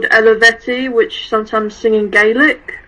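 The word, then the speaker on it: Eluveitie: Where the first song sounds like meatlo you also showed me this band called Elveti which sometimes singing Gaelic. It's it's pronounced Elveti.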